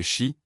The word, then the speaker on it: Qi: La force vitale invisible, appelée Qi, prononcée Shi, coulait à travers chaque être vivant.